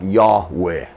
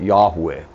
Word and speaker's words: Yahweh: And in Hebrew, it's pronounced something like Yahweh. Have you heard that? Yahweh.